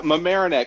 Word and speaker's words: Mamaroneck: scott walker coming to us from am i pronouncing it right is it mamaroneck is that where you're at uh yeah mamaroneck although i am actually back in the hotel